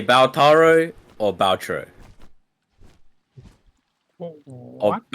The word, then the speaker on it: Balatro: I don't know how you even derive Balataro. There aren't that many A's in the word. It's B-A-L-T-R-O. Baltaro, right? No, Taro, that's not what you said before. You said Balataro. Balataro. There's not enough A's for it to be Balataro.